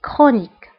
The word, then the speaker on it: chronique: فانتبهوا بالنسبة للكرونيك فهنا سي اش كنطقوها بكا une maladie chronique.